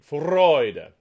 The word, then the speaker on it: Freude: top of the downbeat freud okay and usually with a good exclamation on the first syllable of the of the word and then the second one is unaccented and so